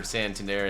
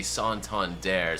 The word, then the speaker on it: Santander: None of these batters that came after Santandere and Mickey could do what they could do. All right, I just heard the PA announcer say son dare. So, I've been saying it wrong all video.